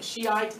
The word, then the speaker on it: Shiite: So with this one, you'll want to write Islam splits, and that's Shia, you can pronounce it Shia, Shiite, Shia, doesn't matter.